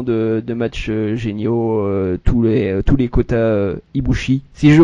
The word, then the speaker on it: Kota Ibushi: Allez voir, parce qu'il y a énormément de matchs géniaux, tous les Kota Ibushi, si je prononce bien son nom. C'est ça, Kota Ibushi.